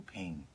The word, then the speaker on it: Phing: so great they would call that baby little ping boy or girl one matter it is a unisex name yeah it's spelled pH ing which when I first read